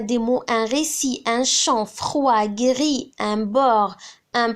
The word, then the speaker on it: chant: Par exemple, quelle est la famille de chant? Chant. C'est chanter. Donc, qu'est-ce qu'on va rajouter à la fin? On va rajouter un T parce qu'on entend le son T.